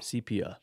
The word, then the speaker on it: sepia: The pronunciation is S-E-E-P-E-E-U-H. Dang. Sepia.